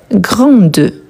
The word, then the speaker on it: grande: Donc j'ai grande. Grande donc je vais bien prononcer le D et pas les E à la fin parce que les E il n'est pas accentué.